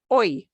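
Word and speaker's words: hoy: Here, the Y, the Y is the last letter of the word, and it's pronounced oi.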